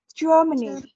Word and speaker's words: Germany: dung nhất Ok và chúng ta sẽ có chúng ta sẽ có trọng âm âm đầu tiên là âm ok cái âm này thì